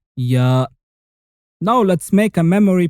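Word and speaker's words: ياء: The 28th and last letter is ya. Ya is looking like a yellow snake with two yo-yos below it. And it sounds like the letter Y of yellow and yo-yo. You say ya.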